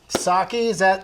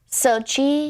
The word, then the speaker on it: Socci: Socci, did I say it right? Yes, that was amazing. That never happened. Because people get it wrong all the time, don't they? Yeah, I don't really correct them either. Because phonetically, I feel like they're right, Well, what's their first attempt usually? Sochi. They go Sochi.